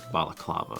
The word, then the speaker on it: balaclava: I think I think the thing you're referring to is a balaclava. Is it that how it's pronounced? Yeah. Just because baklava is the dessert dessert.